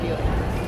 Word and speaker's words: Buick: It's pronounced Buick.